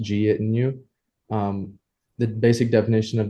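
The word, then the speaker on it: jeitinho: afterwards lastly they have a Portuguese term um pronounced git in you um the basic definition of this is just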